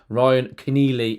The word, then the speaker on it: Ryan Keneally: Yeah, Ryan Keneally is the proper pronunciation there, though.